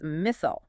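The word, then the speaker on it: مِثْل: The second pronunciation is mythol with a closed meme using the casra, the small line below the letter.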